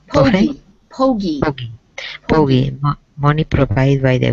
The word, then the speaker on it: pogey: What is the pronunciation? Pogey? Pogie.